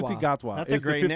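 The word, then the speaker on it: Ncuti Gatwa: You don't see the NC in his name. You pronounce it with a shu. Shuti Gatwa. Shuti Gatwa That's is a great the 15th name.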